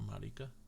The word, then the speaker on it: Marika: Or Marika, how it's pronounced.